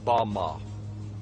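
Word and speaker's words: בָּמָה: which Satan fell is Strong's Hebrew word 1116 pronounced Bama Bama is most commonly used to refer to a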